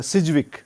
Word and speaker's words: Sidgwick: सिर्फ बल देते हैं DJ और जी एक साथ हारे हैं तो एक को साइलेंट रखना पड़ता है अगर आप डी को साइलेंट रखेंगे तो सिर्फ वीक हो जाएगा सिजविक और अगर सर्जिकल साइलेंट